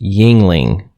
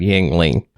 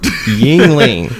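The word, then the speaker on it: Yuengling: our feeds uh but for our listeners it's pronounced yingling hershey porter not yang ling i don't want to be the guy that corrects i'm just going to go on record yingling yingling the oldest brewery in america you called it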